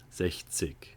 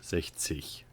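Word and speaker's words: sechzig: The proper German way to say it, if we were to talk in a classroom, reading it, learning it, is a G. It's a hard G. 60. But where I grew up on, my accent, it turns more into a CH. 60.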